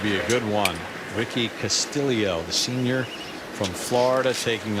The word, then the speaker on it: Castillo: It is Castillo. Explain. It is Castillo due to his Filipino heritage.